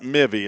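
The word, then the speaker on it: Mivi: The son of Eric and Nicole Lamb, brother to I got Mivy. That's how I'm pronouncing it. M I V I. And if the Lamb family wants to check me on that, let me know.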